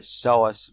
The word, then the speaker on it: psoas: it is called the source muscle as you can see the pronunciation is missing the p the p is not pronounced this muscle is coming